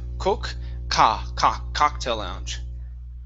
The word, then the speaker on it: cocktail lounge: Instead of coke, cocktail lounge.